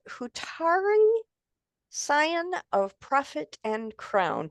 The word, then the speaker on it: Hutari: Neil is with us and he's going to share a little bit of his book and it's called Hutari San of Prophet and Crown. Did I pronounce that right, Donovan?